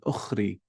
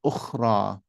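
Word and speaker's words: أخرى: would read it as ukhri, which is incorrect. Why? Because this is not a ya, it doesn't have 2 dots over here. Instead, this is ukhra. You would read it as ukhra. This is pronounced like an alif.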